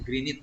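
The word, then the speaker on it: Greenwich: rata yang diukur di kota greget bacanya Green It ya Hai yaitu sebuah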